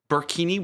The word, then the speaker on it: burkini: So, I think using the word burkini, which rhymes with bikini, is probably a bit of a misnomer.